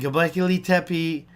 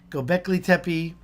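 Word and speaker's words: Göbekli Tepe: the top ten and gablically tepi gobekli tepe i always say it wrong is the number one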